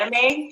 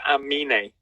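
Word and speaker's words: Aminé: how you say it is it anime like no it's like but he's flipped the n and the m so it's amini okay okay yeah yeah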